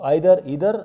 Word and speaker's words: either: You can call them either and neither. Both are the correct pronunciations. Okay, one is British and one is American. So either, neither or neither, whatever way you want to pronounce them, you can.